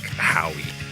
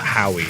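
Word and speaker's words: Howe: But like my freaking last name, it's always fucking like Howie. Like it's not Howie, it's How. The E is silent.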